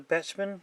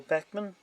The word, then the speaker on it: Bachmann: road this particular ones made by Bachmann some people pronounce a batsman or Beckman as you can see